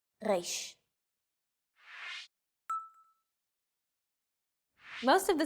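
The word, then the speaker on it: ריש: 3 of these letters are pronounced deep in the throat.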